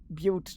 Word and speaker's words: Butte: Oh no, it's pronounced Butte, isn't it?